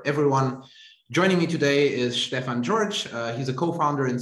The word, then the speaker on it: Stefan: is did i pronounce your name right is stefan okay great pronunciation yeah all right excellent my german is